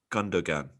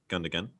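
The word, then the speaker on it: Gündoğan: Do you even pronounce the second G? I don't think you do. The second G. No, I think you do. I googled it, and there's a little mouth that appears, and actually shows you even how to position your own mouth. It's quite weird. So yeah, I believe you pronounce second G.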